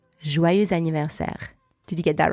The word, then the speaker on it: joyeux anniversaire: Joyeux anniversaire. Now, faster, normal speed. Joyeux anniversaire. Joyeux anniversaire.